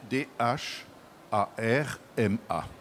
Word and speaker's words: dharma: D'où vient ce mot qui s'écrit donc Dh A R M A et on entend le H. On prononce donc dharma.